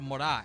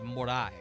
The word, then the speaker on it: Moray: I believe it's called Morai, and I'll spell that in chat. I know it's spelled Moray, but I believe it's said Morai.